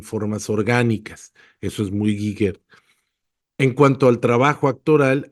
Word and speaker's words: Giger: Giger o Giger, nunca he sabido cómo se pronuncia, creo que es Geiger, y creo que es